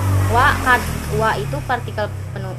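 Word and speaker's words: は: Wa itu partikel kalimat ketika ketemu to be, hurufnya H tapi dibacanya wa.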